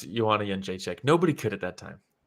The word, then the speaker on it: Jędrzejczyk: Who cares if he can't pronounce Joanna Jędrzejczyk? Nobody could at that time. Nobody could. You look at those vowels and the consonants. It's like a DRZ, and it's pronounced Yun.